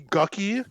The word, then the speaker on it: Gucci: They could call me Gucky. It's spelled Gucci, but it's pronounced Gucky.